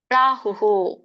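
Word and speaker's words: ಪ್ರಾಹುಃ: ಅದನ್ನ ಸನ್ಯಾಸಮಿತಿ ಅಂತ ಹೇಳಬಹುದು ಪ್ರಾಹು ಉಕೆ ನೋಡಿ ವಿಸರ್ಗ ಇದೆ ಸೋ ಇಲ್ಲಿ ಹ ಕೆ ಉ ಕೂಡಿದೆ ಅಲ್ಲ ಸ್ವರ ಹಾಗಾಗಿ ನಾವು ವಿಸರ್ಗ ಕೂಡ ಹೂನೇ ಉಚ್ಚಾರನ್ನ ಮಾಡಬೇಕು ಅಂದ್ರೆ ವಿಸರ್ಗ ಅಂದ್ರೆ ಹ ಉಚ್ಚಾರಣೆ ಬರುತ್ತೆ ಹಾಗಾಗಿ ಪ್ರಾಹು ಅಂತ ಹೇಳಬೇಕು ಪ್ರಾಹು ಪ್ರಾಹು ಅಲ್ಲ ಕೆಲವೊಬ್ಬರು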